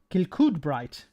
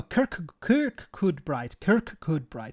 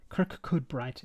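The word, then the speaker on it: Kirkcudbright: Max, how do you pronounce Kilcoodbright? Is it Kilcoodbright? No, Kirkcoodbright. Sorry, Kirkcoodbright. It's very difficult. You have two Kirk and then Coodbright. Kirkcoodbright. It's too many vowels close together.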